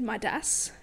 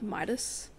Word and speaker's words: Midas: narrator was British but she said Myas Myas not like Midas like it sounds like one syllable instead of like the two yeah Midas it just